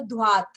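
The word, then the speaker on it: droite: Right, so dhwat, T भी pronounce करना है.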